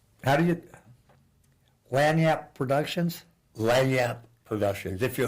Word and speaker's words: lagniappe: It's French, the French spelling. It's Cajun. Well, yeah, so, It's got a flavor of French in it. yeah. Lagniappe, Lagniappe. But it's pronounced Lanyap, yeah.